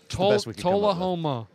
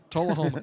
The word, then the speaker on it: Tullahoma: Tullahoma. Tullahoma. Tullahoma.